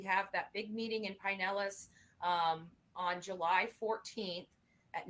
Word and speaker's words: Pinellas: it's just because that's you know how we pronounce it in the north but so it is Pinellas okay yeah she's saying Pinellas move us to do so we need to